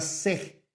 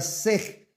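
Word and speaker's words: שה: Ojo, repito, la palabra hebrea que comúnmente se utiliza para cordero es la palabra sej s e h. Pronunciación para nosotros es la palabra sej.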